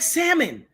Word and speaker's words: salmon: It looks It's like salmon. The next time I hear one more of y'all suckers out there talking about salmon pow right in the kisser. The L is silent.